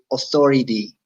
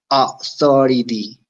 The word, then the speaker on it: authority: word is to say authority authority authority the au usually has the sound o in english and th pronunciation very common of american and british english authority let me tell